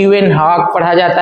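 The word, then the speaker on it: Leeuwenhoek: [गला साफ़ करने की आवाज़] लवन हॉक पढ़ा जाता है लेकिन स्पेलिंग थोड़ा कॉम्प्लेक्स है तो आप इसका ध्यान देंगे।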